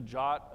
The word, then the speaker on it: JWT: here's a here's a jot it's it's meant to be pronounced jot I'm still not exactly